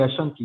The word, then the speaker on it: Ashanti: of the ascent the the king of the ashanti did i say it right yes that's what